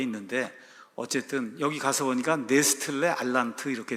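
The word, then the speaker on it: Nestle-Aland: 어쨌든 여기 가서 보니까 네스틀레 알란트 이렇게 돼 있죠 독일어 식으로 이제 발음을 하면 네스틀레 알란트 이렇게 되는데 그냥 미국 사람들이 발음하는 걸로 하면 그 네슬레 알란드 이렇게 이제 되는 거예요에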